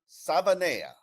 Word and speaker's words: Savaiinaea: Joining me is Isaiah Smalls for us to break down the addition of Jonah Savana.